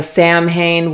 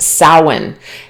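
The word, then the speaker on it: Samhain: eye on you this week we have the Sam Hane witch it's actually pronounced sin keeper of thinning veils honoring the ancestors Eternal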